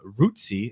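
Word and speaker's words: Rutckyj: Braves drafted Evan uh Rooty is actually how you pronounce his name doesn't look anything like that but the Braves drafted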